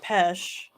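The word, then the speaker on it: pesce: okay what is and i believe this is pronounced pesh p-e-s-c-e italian for oh a pessimistic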